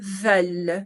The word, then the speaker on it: veulent: Nous voulons, vous voulez, ils, elles, veulent. ¿Sí? La pronunciación c'est plus ouverte, es un poco más abierta al final.